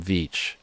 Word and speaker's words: Veach: So I think I'm going to do my little speech on the M Cave and the missing hiker Tom Veach. Beach, spelt with a V.